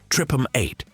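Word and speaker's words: TRPM8: One of the MVPs of this system is a protein called TR R P M8 pronounced tripum 8 which is responsible for detecting cold sensations.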